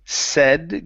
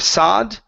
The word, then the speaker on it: said: Okay, the other one here, okay, is going to be said. Give me a short e instead of sod.